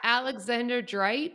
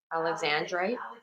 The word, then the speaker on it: Alexandrite: pearl, Yeah, Alexander Drite. What? Alexandrite. Oh, that's how you say it.